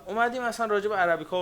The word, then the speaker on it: عربیکا: همه می‌شناسن نشون و عربیکا رو آرابی کا درص تلفظ می‌کنن ولی ما توی تلفظ ایرانی که خودمون باهاش صحبت می‌کنیم بهش میگیم عربیکا یعنی حداقل رایج عربیکا